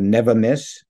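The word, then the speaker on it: Nevamyss: it it has much more impact it's called never miss because you know peaches often get frosted by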